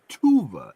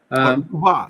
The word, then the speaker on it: Tuva: Korean from somebody from tuva tuva is that's how you pronounce it tuva I think so but that's just the